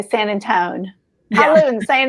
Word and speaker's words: San Antonio: The way we say it, San Antone. I guess so. No one else would know what we were talking about. So thank you for saying it correctly.